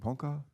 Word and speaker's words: Ponca: A Ponca, do you pronounce it Ponca?